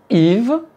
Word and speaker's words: Yves: Si je dis le prénom Yves, je prononce le “y” (i grec) -> “i”.